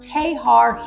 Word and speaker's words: Texar: way to Bayou tar it looks like Texar but it's pronounced tahar here you go to